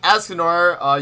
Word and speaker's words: Escanor: It's right, but it's pronounced Escanor.